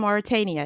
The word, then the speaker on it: Mauritania: So, I mean, Oh, first I want to ask you, I know your family is from Mauritania. Is that the correct pronunciation?